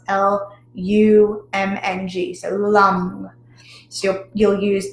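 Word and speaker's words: Lam: is so it's l-a-m but it again it's pronounced l-u-m-n-g so lum so you'll use that with um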